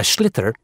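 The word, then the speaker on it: sliotar: this ball called a schlitter that's s-l-i-o-t-a-r so it's not spelled the way it's pronounced you hit ears into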